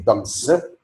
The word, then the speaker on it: dogs: When I say dogs, the final s is referred to in grammar as an inflection. The final inflection s here is pronounced z, whereas when I say pets, it is pronounced s.